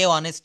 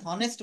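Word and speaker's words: honest: বলছে যে অনেস্ট হ্যা এখানে আমাদেরকে হনেস্ট বলা যাবে না অর্থাৎ মনে রাখবেন বাংলায়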